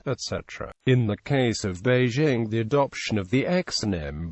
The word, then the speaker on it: Beijing: meteor Outlets quickly gave rise to a hyper forenz pronunciation with the result that it is more common today to hear native speakers of American English actualize the J in Beijing as the official romanized